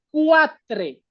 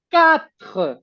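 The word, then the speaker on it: quatre: La Q y la U van a tener un sonido de K. Por eso no es cuatre, es cat porque esta u como que no se pronuncia como en el español no dices cueso, dices queso.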